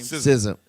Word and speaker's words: SZA: she should have got, and even sister, how you pronounce her name? SZA.